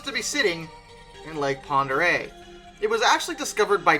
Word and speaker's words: Pend Oreille: tale of the true ghost train beneath lake ponderay lake ponder a which yes that is absolutely